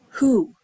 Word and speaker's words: who: but if you listen the word who actually sounds like who who is that so even though it's spelled with a w we only hear the h as you probably have